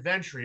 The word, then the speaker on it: Ventre: So did I pronounce it right? Ventre or Ventre? You got it, Ventre.